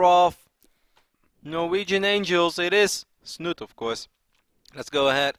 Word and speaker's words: Snute: the one and only it is sno sno there's one Norwegian fan out there who gets very very mad every single time did you say it like that I say snoot he's like okay you please stop saying snoot it's not you ever